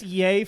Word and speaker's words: Ye: i saw something and it seemed like it was pronounced yi and i was like am i saying it wrong the whole time i think it's yeah yeah yeah yeah it's yay for sure but i fully support